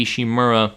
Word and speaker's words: Ishimura: and repair USG ishimura I think I've been saying it wrong for a little bit so just correct correction is USG ishimura anyways they start the docking process on the USG ishimura but the tethering system's